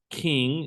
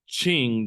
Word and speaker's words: Qing: It's not the king, it's the Qing dynasty.